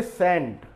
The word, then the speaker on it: scent: ये सेंट, SCENT, तो देखिए यहाँ पर ये सी जो है ये साइलेंट हुआ, SENT को मिलाकर वर्ड बोला गया सेंट, तो यहाँ पर हो गया सेंट का अर्थ सुगंध या इत्र।